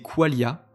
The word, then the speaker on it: qualia: Les qualia, prononcé qualia, ce sont les qualités subjectives de l'expérience.